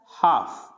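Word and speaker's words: half: है, जैसे काल्फ नहीं पढ़ेंगे, इसको पढ़ेंगे काफ, हाफ, काफ, हाफ, यानी L को नहीं प्रोनाउंस करेंगे।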